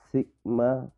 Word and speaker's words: sigma: Untuk data populasi, maka formulanya adalah sigma kuadrat, ya. Ini bacanya sigma.